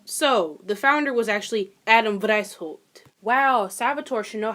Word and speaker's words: Adam Weishaupt: Adam White. Oh, Lord. Is that German? Wow, it is German. Wow, I should probably fucking know that. So, the founder was actually Adam Weishaupt.